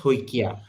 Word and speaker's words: Saikia: So it's how Saikia is pronounced Hoikia.